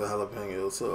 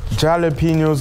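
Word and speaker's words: jalapeños: that W oh yeah wait is it jalapenos or is it jalapenos I think it's jalapenos so why is there a j it's silent it's a silent but if it's silent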